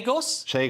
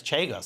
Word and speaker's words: Chagos: Kos Island's decision as Argentina haos chagos shos chos chos if you're Jewish it's kgos and if you're otherwise if you're American it's chos it's not our it's not ours anymore we